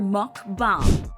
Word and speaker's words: mukbang: have no idea how to pronounce it it's pronounced book bong or mukbang mukbangers make a ton of money some of